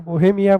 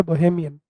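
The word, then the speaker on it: Bohemian: हालाँकि आप उसको बोहेमिया बोहेमिया बोलते हो, बट जो करेक्ट प्रोनाउंसिएशन है वो है बोहेमियन।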